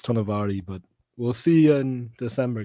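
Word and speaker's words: Tonowari: Polynesian culture, and generally in Polynesian culture, the W is like a V and an O is like a U. So as far as I know, it's Tonavary, but we'll see in December, guys, eh?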